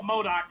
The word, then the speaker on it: MODOK: Madook, how do I pronounce that? Is it just Madook? Oh, Modok.